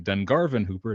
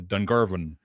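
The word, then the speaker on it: Dungarvon Whooper: It's the Miramichi, and it's the Dungarvan Hooper, not the Dungarvan.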